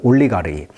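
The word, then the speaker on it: олигарх: 올리가르히 러시아 말로는. 영어식 이름으로는 이제 알러가키라고 합니다. 알러가키. 강세가 이름절이 있어요. 영어식 발음은 알리가르키. 러시아 말로는 올리가르히.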